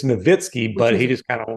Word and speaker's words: Nowitzki: something like that like is it Dirk Nowitzki or is a Dirk Nowitzki it's it's novitsky but he just kind